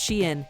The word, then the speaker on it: Shein: Shein, pronounced Shein, is the world's largest fashion retailer.